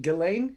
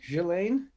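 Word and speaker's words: Ghislaine: rapists uh the gallate gillane jillaine i don't know i just know i just know the s is not pronounced that's what i know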